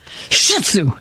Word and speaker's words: Shih Tzu: bean Shih Tzu mix you gotta say it like this Shih Tzu him well yeah he's